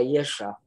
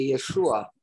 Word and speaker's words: Yesha: ils appelaient ces places-là Yesha. Mhm. Yesha. Mais vraiment, il y a aussi le Vav, ça devrait être appelé Yeshua, parce qu'il y a le Vav et le Ain qui doivent être prononcés.